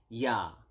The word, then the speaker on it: ya: Yes is ya.